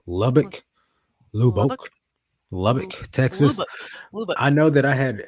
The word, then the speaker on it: Lubbock: bad but it's in Lubbock how do you pronounce that lobach Lubbock I know that I had uh pretty good